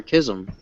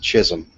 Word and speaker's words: Chisholm: Is it pronounced Chisholm or Kism? No, it's pronounced Chisholm. Ooh. Mm-hmm. Dr. Like- Chiz. Yeah. Oh, you mean like the YouTuber, huh? No, I said jizz, but that's how close it sounds.